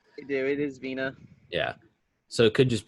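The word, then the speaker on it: Virna: at first it's like verna but i've heard it pronounced vena just because in obviously in brazilian culture they dropped that r a lot i do it is veena yeah so it could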